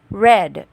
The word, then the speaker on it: read: the pronunciation is different since this is already in past tense we pronounce this word as red he read her letters